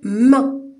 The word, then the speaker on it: main: Avec M, je vais lire main.